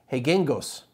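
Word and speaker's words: Reguengos: is in the region hegengos i know it seems really weird but ours are pronounced h's in portuguese for the most part so the hegengos sub-region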